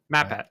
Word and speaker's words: MatPat: MatPat, yeah.